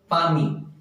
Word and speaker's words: palmy: इसका प्रोनाउंसिएशन बहुत ही ध्यान रखेंगे दोस्तों, ये पाल्मी नहीं है। The pronunciation is पामी।